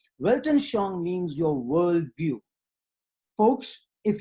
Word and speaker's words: Weltanschauung: The Germans have a very interesting expression, Weltanschauung. And they pronounce the W like a V, which is just fine with me because I pronounce my W's like V's too, okay?